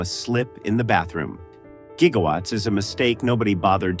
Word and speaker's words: gigawatt: By the time anyone realized the proper pronunciation used a hard G, the line was already iconic.